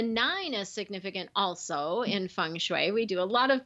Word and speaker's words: Feng Shui: you you've got this Feng Shui stuff am i pronouncing it correctly feng shui your function you're pretty close it's fun I'm fine as if it were you a Fung Shui Fung Shui got it yeah and it